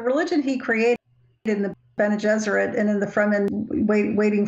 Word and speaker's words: Bene Gesserit: That he was schooled by, like, nuns, and the Bene Gesserit is kind of rhymes with Jesuit, so it's...